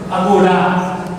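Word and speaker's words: ἀγορά: Aqui a cidade de cultura, ela possuía esse nome esquisito aí, embora tenha esse acento aqui no grego, mas a sílaba tônica é aqui, que estaria uma coisa assim, agorá, é uma espécie de praça central para eventos artísticos.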